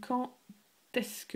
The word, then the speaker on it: quand est-ce que: Quand est-ce que, a note here with quand, the pronunciation, quand est-ce que, it's a T sound.